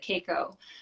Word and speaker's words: KKCO: She pronounces it Keiko, which is a really cool brand I love.